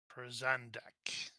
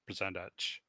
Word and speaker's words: Prozandach: Prozandak. Thank you. What is it? Prozandak. Yeah. No, Butchered it up. It's CH. It's ch. Prozandach. Prozandach.